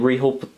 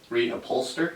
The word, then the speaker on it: reupholster: Some blinkers, and we've got some high-speed fabric that we're gonna put and reholster the seats with. Is that how it's said? Reholster? Reholster? Reupholster? Reupholster. I've heard of both ways. Say reupholster.